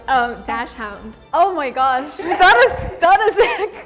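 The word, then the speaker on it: Dachshund: I think if I read it straight, even though we're like everybody says dashhound, it would be dash hund if I read it straight.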